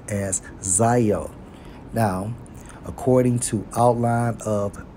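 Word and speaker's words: ζάω: Greek it's Zio right Strong's G 21 98 pronounced as Zio now according to outline of biblical usage two-way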